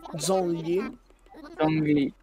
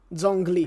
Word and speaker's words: Zhongli: Com'è che si legge? Zongli? Zhongli, bellissimo Zongli. Zhongli. Giusto, è cinese.